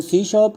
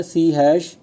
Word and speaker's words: C#: सो इसे हम कैसे प्रोनाउंस करते हैं, सी हैश या सी शार्प। मीन्स हैश नहीं कहने का, सिर्फ सी शार्प कहना है।